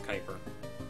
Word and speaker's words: Kuiper: Kuiper Nebula, I think I mispronounced that again. I think it's Kuiper.